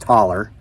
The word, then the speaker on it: hollow: it was a typical Appalachian Hollow Community pronounced taller there were only about